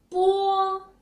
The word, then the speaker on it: po: When we pronounce po sound, the paper moved, right? Okay, good.